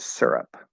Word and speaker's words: syrup: way is fine um i naturally pronounce it syrup with er the er vowel sound um so yes the